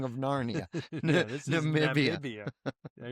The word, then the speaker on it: Namibia: Yeah, he's he's a longtime member of Nambia's ruling Swapo party. Nambia or Namibia? Are you pronouncing it correctly?